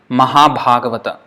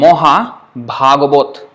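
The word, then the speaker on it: মহাভাগবত: But in Bengali they would say Moha, because the first one A is a short A, so it's O. But the second one is A, so that is A. And Moha Bhagavot. This is how it would pronounce. Moha Bhagavot. But it's Mahabhagavata. So, even if you can't pronounce it exactly like a Bengali, it doesn't matter. If you say Mahabhagavat, it is still not wrong.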